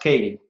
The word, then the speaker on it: Keaty: It's spelled Keaty, pronounced Keaty.